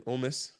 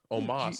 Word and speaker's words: Omos: You hear how he was saying Omis? He was like saying Omis. Omos. I was like, Omos, though.